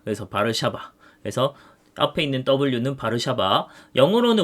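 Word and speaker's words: Warszawa: 반응을 해요 그리고 WTO 해서 어 사유진 진영에서 바르샤바 조약 기구가 있는데 우리가 지금 생각하는 이제 월드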